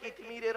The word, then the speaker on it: কিতমির: কিন্তু আমাদের জ্ঞান হয়ে গেছে কিতমিরের মত কি বললাম কি বললাম কিতমির কি বললাম বলুন কিতমির বলুন উচ্চারণটা করুন কিতমির কয় হস্ত ত ময় দীর্ঘই